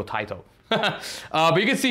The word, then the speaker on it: Taito: but again ta Tio I say tao because uh people say why do you say it like that uh my arcade games like the ATT track mode on a couple of games uh it goes TI to so that's why I go TI to uh but you can